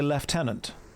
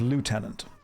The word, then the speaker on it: lieutenant: The military would say lieutenant instead of lieutenant.